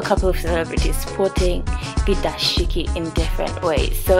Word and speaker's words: dashiki: It's pronounced the dashiki and it's from Africa, and these are just loose fitting shirts or tunics.